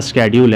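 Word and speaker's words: schedule: ये पढ़ाता है, बहुत कोई शेड्यूल भी पढ़ता है, बट होता स्केड्यूल है।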